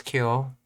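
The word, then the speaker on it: 今日: It's ima and nichi put together, which makes oh no, that's kyo. Okay, I was thinking that's right. I was thinking ima and asa put together. Yeah, that's kyo.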